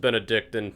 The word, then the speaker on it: Benedictine: Cleveland, the Benedictine, is that right? It's pronounced Benedictine. My high school played against them.